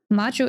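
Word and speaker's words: 魔女: On the other hand, Majo is with a short O. Not Maho is magic, and Majo means witch.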